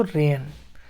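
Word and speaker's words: reign: ठीक, तो आर को रा पढ़ रहे हैं, ई एंड आई को ए पढ़ रहे हैं, और जी यहाँ पे साइलेंट है, जी को कुछ नहीं पढ़ रहे हैं, जी साइलेंट है, एन को ना पढ़ रहे हैं, तो रेन, इस तरह से रेन पढ़ाएगा।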